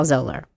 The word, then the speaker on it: Zahler: It's ZAHLER is how you spell Zolar, by the Zolar.